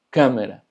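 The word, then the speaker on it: câmara: Este acento nos da también la sílaba tónica, pero se pronuncia más cerrado. Por ejemplo, es cámara, cámara, que significa cámara.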